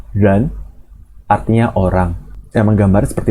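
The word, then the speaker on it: 人: Bacanya ren, artinya orang.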